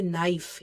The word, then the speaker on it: knife: silent letters for example when we say knife in writing we write k but in uh reading we don't mention k we just exclude it okay so when it